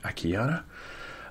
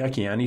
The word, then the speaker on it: Akiane: a n e calm a Keanu I say I can e sometimes because there's an e on the end of it but it's pronounced a Keanu and as we head